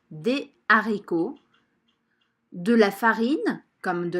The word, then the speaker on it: haricots: du riz des haricots ici je ne fais pas la liaison jeudi des haricots de la farine comme